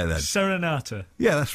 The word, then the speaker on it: Serenata: here because you got a new album out senorita again sen sen sen rata I love it I love it well how do you say it then Serenata yeah that's right that's what I said it